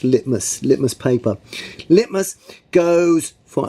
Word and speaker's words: litmus: acids red litmus it looks like it's about lift mus but it's pronounced litmus litmus paper litmus goes for alkalis no NIT